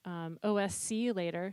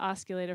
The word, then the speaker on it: OSCulator: You can also use that, do that with OSC later. See, Jules, I said it right this time. I've been calling it osculator for like 10 years. And then he's like, it's OSC later. And I'm corrected.